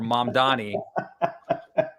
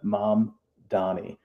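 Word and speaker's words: Mamdani: writing for the wire, it would be like m a capital m a h m uh mom donnie.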